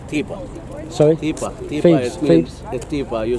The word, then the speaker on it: Thebes: And the English speakers, they say Thebes. TH, they pronounce it Thebes, so they say Thebes.